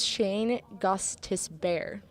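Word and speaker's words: Gostisbehere: Gustus Kostas be here actually let's try Shane gosta Bay let's let's try something totally ridiculous I've actually pretty close it's Shane Gustus bear okay Shane Costas bear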